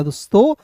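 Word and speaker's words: this: ल और आई के इ है तो इसका उच्चारण आई के रूप में करेंगे। हो जाएगा दोस्तों like. T एच आई एस को पढ़ेंगे दोस्तों। दिस क्या पढ़ेंगे? दिस पढ़ते हैं दोस्तों। दिस। थिस नहीं पढ़ेंगे।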